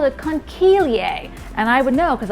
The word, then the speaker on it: conchiglie: It's actually in the shape of a pasta shell that's called a conchiglie.